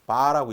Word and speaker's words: VAR: 그래서 여기에서는 단위가 VAR 그래서 바라고 읽습니다.